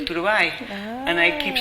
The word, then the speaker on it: Turbay: Thank you for having introduced me in the correct way, because usually the Ghanaians, when they pronounce my name, they say Turbay, and I keep saying no, please, it's Turbay.